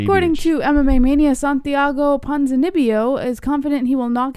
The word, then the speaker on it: Ponzinibbio: They can't say Ponzinibbio. Like, is it? Can you say it? Ponzinibbio? It's not that hard. Like, there's so many harder names to say. Why do people have a problem saying Ponzinibbio? It's so weird.